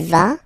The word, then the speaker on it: vas: Basically, you pronounce it like for the tu, because you don't pronounce the final S, okay, il va, elle va, okay, je vais, tu vas, il va, elle va.